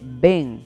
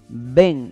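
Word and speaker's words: בן: Hijo en el hebreo se dice Ben. ¿Cómo se dice? Ben.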